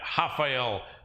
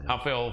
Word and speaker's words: Rafael: Main event: Rafael Dos Anjos versus Rafael Fiziev. People look and see the name spelled the same. In Portuguese, the R is an H sound.